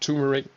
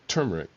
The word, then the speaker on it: turmeric: some people pronounce it turmeric I have always pronounced it turmeric because it's spelled turmeric an undeniable Superstore of